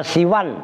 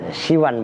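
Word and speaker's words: سوى: Wa siwan dan siwan. Kalau nggak dimudhofkan siwan bacanya. Kalau dimudhofkan siwa.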